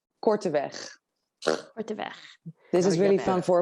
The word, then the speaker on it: Korteweg: properly could you yes you actually did it really well in the anglified version okay but it is cortez this is really fun